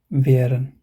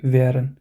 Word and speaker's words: wären: How do you say That's how you say wären. So if how do you say this one? So you say and then you add wen, wären. That's how you pronounce this one.